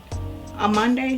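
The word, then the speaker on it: Amande: Mm- Next thing I got was the Nars Creamy Radiant Concealer in Arande. I think that's how you pronounce it. A Monday. There's no R.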